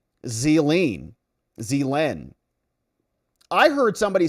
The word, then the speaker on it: Ghislaine: It's pronounced Zeline.